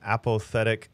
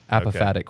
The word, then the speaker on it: apophatic: say that word again apothetic theology is that did i say it right yeah okay so he's going to correct you say it again apophatic which is like the